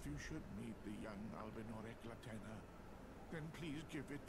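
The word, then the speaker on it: Albinaurics: I am Albus, an Albinurix. Albinurix. I won't remember that, but it's good to know that's how it's pronunciated.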